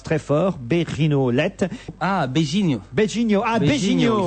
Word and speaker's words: beijinho: Ah, Beijinho. Beijinho, ah Il Beijinho. faut Voilà. pas prononcer en Beijo.